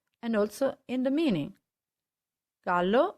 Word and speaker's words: gallo: also in the meaning gallo means rooster whereas jallo means yellow so the way you